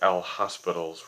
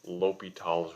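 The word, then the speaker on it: L'Hôpital: forms and what's called l'hopital's rule yes it looks like l hospitals rule but it's pronounced l'hopital's rule for our notes we'll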